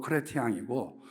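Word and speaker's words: Chrétien: 크레티양. 아, 블란서 발음으로 크레티앙이고 원래 영어는 크리스천이라고 하는 발음이죠.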